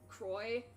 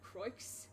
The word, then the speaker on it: Croix: Like, I recognized it as sounding French, so I knew that I had to pronounce it like Croix instead of Croix. I know that the X is silent. I may not know French, but I know that much at least. That the X is usually silent.